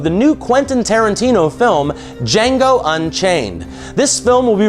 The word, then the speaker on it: Django: of a slave named Django the D is silent and how he comes